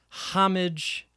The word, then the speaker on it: homage: at least said that it's often without the H sound, but that is an accepted pronunciation.